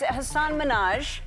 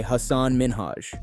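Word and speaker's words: Hasan Minhaj: a respectful and self- assured demeanor as Ellen pronounced his name incorrectly a subtle yet important moment occurred and it's Hanan Minaj yes no really well my name is Hass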